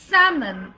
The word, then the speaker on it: salmon: It's salmon, salmon, salmon, salmon, salmon, salmon, salmon, salmon, salmon, not salmon, not salmon.